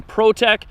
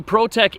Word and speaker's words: Prot3k: Both are from Protec. It's spelled Prot3k.